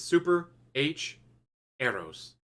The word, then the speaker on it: Super HxEros: there nope it is super h arrows do not pronounce the x kind of like hunter